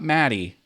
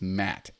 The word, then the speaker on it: Matt: spelling my name wrong it's not it's not Maddie it's Matt ma TT like this Matt no I II just